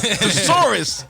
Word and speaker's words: thesaurus: Thesaurus. You put the emphasis on the wrong syllable.